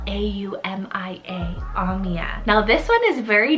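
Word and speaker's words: Aumia: list i have the name amia spell a-u-m-i-a omiya now this one is very different completely new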